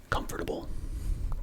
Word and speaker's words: comfortable: Well, generally shorten that. So it's just like, comfortable. A lot of the sounds are not being pronounced fully. Comfortable. Comfortable. No, it's just comfortable. Comfortable. We're basically cutting off syllables almost.